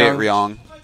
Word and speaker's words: Ryung: home well it's like it's in between the r and the l sound no i like to say ryong we're young i like